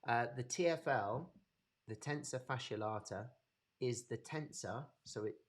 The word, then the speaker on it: tensor fasciae latae: your tfl um so we've got tensor fascia blarter okay or tentifacio latte however you want to pronounce it uh the tfl the tensor fasciae latae is the tensor so